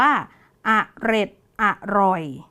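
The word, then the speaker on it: เอร็ดอร่อย: อ่าน ว่า อะไร คะ คำ แรก อ่าน ว่า อะ เร็ด ส่วน คำ ที่ 2 อ่าน ว่า อะร่อย คำ นี้ อ่าน ว่า เอร็ด อร่อย และ คำ สุด ท้าย เมื่อ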